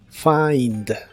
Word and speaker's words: find: en inglés es find se pronuncia como si tuviera una a entre la F y la I find find lo puedes usar en